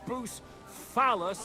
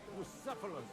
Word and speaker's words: Bucephalus: What kind of name is Boos Phallus, anyway? It's pronounced Bucephalus.